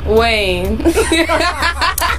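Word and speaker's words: Kaine: the vote Hillary's VP candidate is Tim 90 rhymes with Bain Tim Wayne we hope you stay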